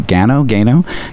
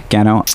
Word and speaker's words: Gano: A year later, young Gordon Go. Gano.